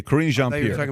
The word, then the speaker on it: Karine Jean-Pierre: Karine Jean-Pierre? Karine Jean-Pierre. Okay, Karine Jean-Pierre.